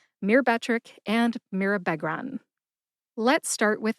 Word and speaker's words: Myrbetriq: Put all 3 of those syllables together and you get Myrbetriq. Emphasize that middle syllable, be. See if you can hear the emphasis when I say it again. Myrbetriq. Myrbetriq.